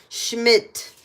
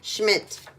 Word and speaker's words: Schmidt: Schmidt. Not Schmid, Schmidt.